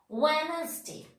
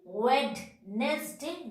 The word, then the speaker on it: Wednesday: Wednesday. We are telling Wednesday, no, Wednesday. So, D is not pronouncing this word.